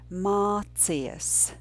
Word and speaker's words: mācies: The last two syllables together would be mācies, mācies.